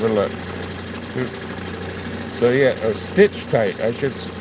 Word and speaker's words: Stichtite: So, yeah, a stitch tight. I should I'm saying cut with a ch, but it's stitch tight.